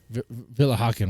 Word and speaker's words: Willighagen: Embrace yourself for the beautiful talent of Amira Villa Haken. So he has more. Hey. Hey, that brother pronounced it right. Villa Haken, right? He did a great job. He he nailed it.